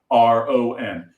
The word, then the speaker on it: Chyron: It's a Chyron.